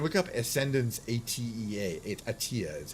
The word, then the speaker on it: ATEA: Um, again, you can look up Ascendance at EA Atia is how they like it pronounced apparently.